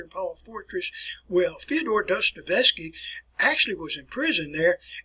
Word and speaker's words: Dostoevsky: All right, pronounce his name like Fyodor, last name a little bit challenging to process here and pronounce here, folks. Dostoevsky, Fyodor Dostoevsky, Crime and Punishment, The Brothers Karamazov.